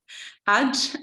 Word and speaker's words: Hajj: I kind of when I was reading it out, and I know Hajj is the correct pronunciation, but for some reason I was thinking